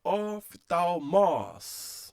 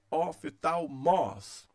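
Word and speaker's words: ὀφθαλμός: Vamos ver então a palavra que aparece aqui, a oftalmos.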